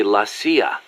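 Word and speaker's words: la CIA: around here they say lasya instead of CIA huh yeah nothing strange about it that's how it's pronounced when you read it in Spanish it has the feminine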